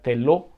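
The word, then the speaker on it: θέλω: En el original griego, la palabra queréis viene de un vocablo que se pronuncia telo, que es la voluntad de decidir, la voluntad de sentir, la voluntad de sentir placer en hacer algo.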